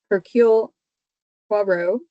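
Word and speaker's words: Hercule Poirot: Well, I have been speaking with Paul Taylor, company member playing the role of, and I keep hoping I say it right, Hercule Quarro.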